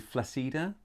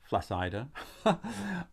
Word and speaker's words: flaccida: are plant lovers sologeny flacida flaccida either way whichever way you pronounce the eye i'm very pleased this